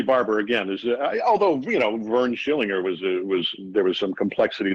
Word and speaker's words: Schillinger: And now you previously played a pretty chilling character on Oz, Vernon Schillinger, right? Well done. Yes, thank you for the pronunciation.